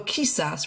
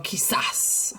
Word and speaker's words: quizás: And this too has that accent mark on the last syllable, like ojalá. So we're not going to go quizás, we're going to go quizás. Hopefully you hear the difference, right?